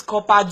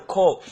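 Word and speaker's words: corps: See, should somebody tell you it's copper, do not believe them. Tell them it's wrong. It is not pronounced the way it is spelled. It is spelled as C-O-R-P-S. The P-S is silent. In phonetics, it is K-O-R, call.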